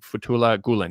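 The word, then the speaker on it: Fethullah Gülen: Xinjiang affair is some Turkish Americans, primarily the Fethullah Gulen. Did I pronounce that correctly?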